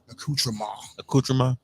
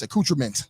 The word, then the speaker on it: accoutrement: got to tell him he's pronouncing that word wrong accoutrement it's accoutrement I don't I know